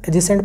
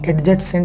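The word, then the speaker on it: adjacent: तो ए और जे के बीच में डी आ रहा है। तो एजेसेंट पढ़ेंगे। एडजेसेंट नहीं पढ़ेंगे इसे।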